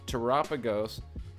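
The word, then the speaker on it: Terapagos: is up to 6773 tragos pronounced like Galapagos ex double rare from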